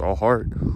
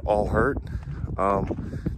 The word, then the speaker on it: allhxrt: more than one way so all heart can be pronounced all heart or all hurt the name meaning is